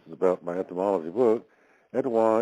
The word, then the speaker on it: Etowah: Etowah is the Anglicization of the Muskogee Creek pronunciation Etowah, which means principal town, which is derived from